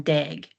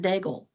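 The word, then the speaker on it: Daigle: she likes and she mentions Lauren and she pronounced it Lauren Deg and you know Lauren Dagel pronounces it Dagel and it's same last name.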